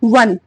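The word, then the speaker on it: one: को क्या पढ़ते हैं वन पढ़ते हैं वन व का उच्चारण आता है और जब व का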